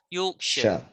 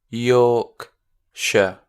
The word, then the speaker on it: Yorkshire: the sh s-h-i-r-e shire we don't pronounce it like shire it's sure yorkshire yes absolutely so yorkshire yorkshire let's try number 11.